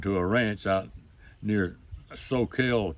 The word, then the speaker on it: Soquel: a ranch out near Soquel California I think that's the way he pronounce it so kill California well the year slipped